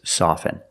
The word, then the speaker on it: soften: Now the word soften, you can never say soften. It's always soften.